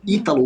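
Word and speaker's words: Hytalo: Eu acho muito engraçado que hoje a gente chama ele de Itítalo, mas o nome dele se escreve como se fosse Haitalo, né?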